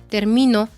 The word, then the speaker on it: termino: de voz por ejemplo Alberto dijo ahorita la palabra termino sí termino no lleva acento Okay no no lleva